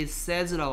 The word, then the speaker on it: says: 요 발음을 요렇게 됐을 때 발음을 좀 어려워하던데 얘는 발음이 says라고 합니다. says 뭐라고요? says. 얘 발음이 say다 보니까 says 하는데 says가 아니고 그냥 뭐라고요? says.